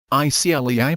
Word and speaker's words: ICLEI: ICLEI pronounced ICLEI believes you should know, and of course want to know, the amount of your yearly direct personal carbon dioxide CO2 emissions.